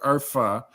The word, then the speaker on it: Urfa: You would pronounce it Urfa because the H is pronounced with a hard H. It's like a F.